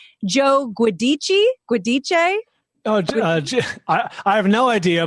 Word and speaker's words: Giudice: Oh, I have no idea, but I think it's pronounced Giudice or Giudice. Is it? Thank you. I knew you'd know. Giudice. Is that it? It is. Yeah. It's tough. They do they do the Italian Giudice.